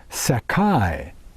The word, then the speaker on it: Sakai: Ptolemy mentions a Scythian people sprung from the Sakai. Now that's spelled S-A-K-A-I, Sakai.